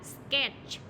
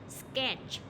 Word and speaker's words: sketch: Rồi cái âm T ở đây khi người ta không nói đọc thì tức là cái âm đấy là âm câm trong từ, mặc dù nó có